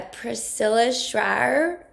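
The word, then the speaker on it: Priscilla Shirer: movie it was um a Priscilla shrier I think that's how you say her name movie and I've done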